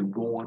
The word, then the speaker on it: raw: cái từ raw này, chúng ta có thể nhấn mạnh là cái or trong từ raw nó cái âm o dài ok, cái đuôi lưỡi, cái